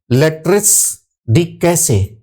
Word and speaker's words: Lettres de cachet: एक तो इसके उच्चारण को लेकर के तमाम बच्चे परेशान रहते हैं, इसको क्या बोले। कभी कभी आप देखेंगे लिखा रहता है लेट्रिस डी कैसे।